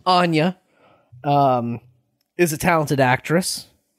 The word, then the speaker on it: Anya: very talented individual um anya i i've always mispronounced her name i've just picked up on a mispronunciation of mine always called her anna taylor joy oh okay i see anya um is a talented